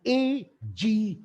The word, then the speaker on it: agis: Q-U-O-D, pronounced quod, and A-G-I-S, agis.